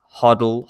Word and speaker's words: HODL: would suggest looking at a platform known as huddle hodl so that's spelled h-o-d-l-h-o-d-l dot com then you sign up